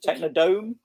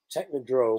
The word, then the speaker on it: Technodrome: Technodome? Technodrome? Technodrome. Drome, there we go.